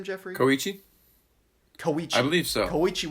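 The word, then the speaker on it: Kōichi: film, our our protagonist, Kioi, how did you pronounce his name, Jeffrey? Kohichi.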